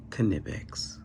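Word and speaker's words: Knipex: these they don't and i do know you pronounce it kanepex but i like to say k-nips so if you wanted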